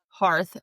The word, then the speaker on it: hearth: The correct pronunciation of hearth by native English speakers is to rhyme it with garth and not with birth.